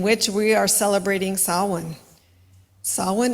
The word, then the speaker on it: Samhain: we are celebrating saan saan is spelled s m h a i n it's Celtic the ancient